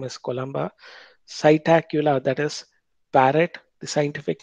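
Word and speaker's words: Psittacula: So Corvus is the scientific name of crow, Columba, pigeon, Cytacula, P is silent there, that is scientific name of parrot, Struthio, scientific name of ostrich, Pavo cristata, scientific name of peacock.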